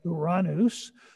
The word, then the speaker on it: Uranus: that's kind of odd and that's the planet uranus which is the correct pronunciation not that other one that all the kids like to use the planet is called uranus it's named after the father of the titans